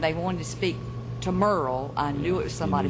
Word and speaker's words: Muriel: the way Or he just pronounced Muriel was Merle. Merle, like M-E-R-L-E, like Haggard.